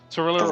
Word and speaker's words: Thalira: Oh man, I cannot pronounce that. Yeah. So Tarilla, or however you say it. She Thalira.